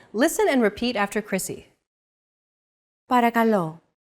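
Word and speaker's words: παρακαλώ: time for example listen and repeat after Chrissy paragalo para calo chances are your pronunciation was pretty spot on the p r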